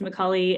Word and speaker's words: Micale: It looks like Micale, just like, trust me, it's pronounced Micale.